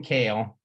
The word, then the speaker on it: Kehl: uh well anyway Jason kale and it's also cool because he let us know that it's pronounce Kale like the salad I wish my name